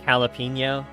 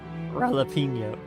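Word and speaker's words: jalapeño: So like jalapeno starts with a J. We don't pronounce the J. Pronounce an H.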